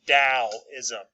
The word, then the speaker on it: Taoism: a t but it is pronounced like it starts with a d so it's dao ism but taoism is created